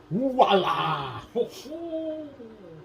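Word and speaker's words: voilà: Voila! Spell it.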